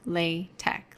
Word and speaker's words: LaTeX: of all latex is pronounced lay tech like i'm pronouncing it it's not the way it's spelled with the the x it almost looks like